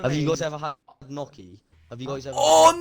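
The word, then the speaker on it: gnocchi: Have you guys ever had noky? Have you guys ever Oh, noky. What's Noky? Noki is great. It's spelled like G N.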